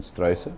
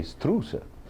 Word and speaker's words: Struise: for 11 years now St can be pronounced in many ways uh some will say STA and others will say strer so however you name it it isn't a problem uh from the moment